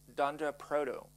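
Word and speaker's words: __proto__: Proto uncore uncore and that is pronounced Dunder for double underscore so it's Dand Proto yeah um so and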